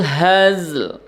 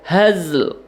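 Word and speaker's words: الهزل: Berikutnya, wa ma huwa bil hazl. Wa ma matobi'i huwa bil alif lam qamariyah hazl. Sama tadi dengan fasl ya, hazl. Jangan haz ya. Kalau cuman haz itu berarti kita menghilangkan satu huruf di dalam Al-Qur'an.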